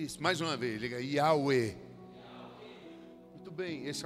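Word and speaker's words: Yahweh: Que se pronuncia Yahuê. Hã, vamos aprender. Repete comigo. Diga: Yahwe. I. Isso. Mais uma vez. Diga: "Yahé".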